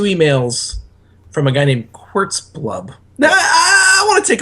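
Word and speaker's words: Zchqxxxxblorb: name is typically pronounced quartz blub the zch is silent uh do you did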